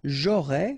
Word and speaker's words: j'aurais: J'aurais, final S not pronounced.